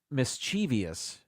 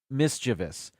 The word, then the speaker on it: mischievous: do this number 15 People Say mischievous it's actually pronounced mischievous there's only uh Miss chiv Miss Chi V us there's no I after the V that's where I know